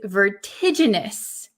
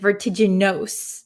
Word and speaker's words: vertiginous: luxurious okay the next word is can you pronounce this word this is vertiginous vertiginous be careful of this ending so um